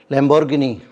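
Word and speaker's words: Lamborghini: ये है लैम्बोर्गिनी, Ferrari. लैम्बोर्गिनी का जो सही प्रोनाउंसिएशन होता है लैम्बोर्गिनी होता है, वो हम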